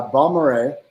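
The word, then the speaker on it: Balmorhea: tell the people about the delmore sure uh bombard is how it's pronounced um delmar when you use strange names like that for bottles there has to be a good story behind it and balmere uh park has the largest swimming hole in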